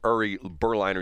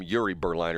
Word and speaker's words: Uri Berliner: I call him Uri Berliner. You call him Yuri Berliner.